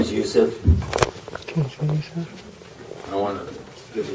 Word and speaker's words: Yusef: personal background first of all my name is youssef i want to give you a chance to